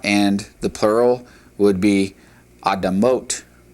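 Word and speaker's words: אדמות: It's pronounced adamah, adamah, and the plural would be adamot, adamot.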